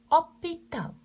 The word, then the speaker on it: hôpital: Les sons H, la lettre H est muet. Muet, silence. يعني pas prononcé. Par exemple, hôpital.